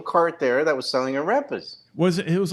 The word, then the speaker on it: arepa: You pronounce the R better than I do.